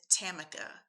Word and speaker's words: Tamika: Tam or, "Hey, I'm Tamika," because that is the correct pronunciation of my name.